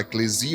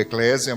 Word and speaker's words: eclesia: A própria palavra eclesia tem som de S mesmo, tá? A gente fala eclesia ou eclésia, mas o correto é eclesia, a pronúncia correta.